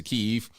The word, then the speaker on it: Kyiv: 1995, Ukraine changed the pronunciation to Kyiv. Still two syllables, though.